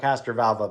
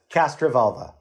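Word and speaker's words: Castrovalva: we talked about this when we talked about Castor valvo the last time castra Volva say it right cast cast I'm so sorry let me take that again I'll just I'll say castra Volva all right I'll edit that in later um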